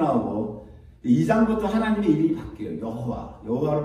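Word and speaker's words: יהוה: 여호와로 바뀌었는데 그 여호와라고 하는 이름이 독일 사람들은 예호바라고도 읽어요. 예호바라고도 읽고 우리 여호와라고 읽고 또 요 근간에는 다 틀렸다. 그 말이 틀렸고 야훼가 맞다. 이렇게 학자들마다 주장하는 게 달라요.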